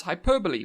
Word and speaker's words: hyperbole: hyperbole and hyperbolic and I know it is spelled hyperb but it's Hyperbole and hyperbolic um because English hates you uh that's that's something